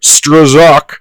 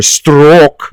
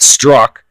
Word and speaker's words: Strzok: you can read Peter stroszek however the hell you say his name I can not very good in Klingon I think it's Peter stroke because I know it's not struck how he absolutely destroyed